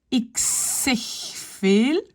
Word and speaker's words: ik zeg veel: Ik zeg veel. Z devient S. V devient F.